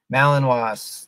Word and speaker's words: Malinois: Malinois, thank you, Janice.